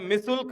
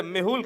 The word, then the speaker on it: मेहुल: आप हैं अंकित राज, आप हैं मिसुल, जबरदस्त नाम, जबरदस्त तहलका मचाते हैं आप, मिसुल । अच्छा मेहुल, स्पेलिंग मिस्टेक है, थोड़ा सुधार दीजिए। मेहुल ।